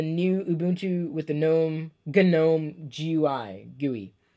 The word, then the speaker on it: GNOME: think about the new Ubuntu with the gnome Janome GUI GUI genome that's how you pronounce it genome GUI I don't know haven't looked at it